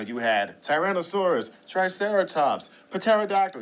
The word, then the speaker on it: pterodactyl: had Tyrannosaurus Triceratops for pterodactyl even though the p is silent but it's totally okay